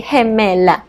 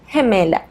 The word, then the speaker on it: gemela: If it's a female twin, we will say gemela, gemela. So these words are pronounced with a soft G sound.